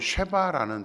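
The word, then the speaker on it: שבע: 히브리어로 7은 쉐바라는 단어입니다. 그리고 맹세하다는 단어는 샤바라는 단어입니다. 둘 다 같은 단어입니다.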